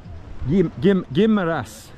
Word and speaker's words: Guimaras: That's Guimaras, straight out. Guimaras, you gotta say it right.